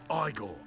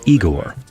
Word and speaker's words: Igor: who runs the fights igore it's pronounced eigor I know they said igore but they were wrong can we just stay